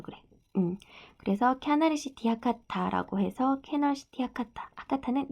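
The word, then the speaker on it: キャナルシティ: 아까도 나왔지만 자, 우리나라 발음으로는 캐널시티인데 이 캐널이라고 쓴 거는 일본식 발음은 이 캐널시티의 캐널을 캬나르라고 해서 그래. 그래서 캬나르시티 하카타라고 해서 캐널시티 하카타.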